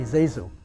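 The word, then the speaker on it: ZaSu: zoo pits zazu some sometimes they pronounce her name different people pronounce it differently i've heard mostly zazu z-a-s-u and so therma and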